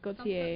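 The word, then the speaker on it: Gotye: Also, Prince announces, I don't know how to pronounce, Gotti, I don't know, winning the Record of the Year. Who? Gautier. Yeah. Gautier? Gautier.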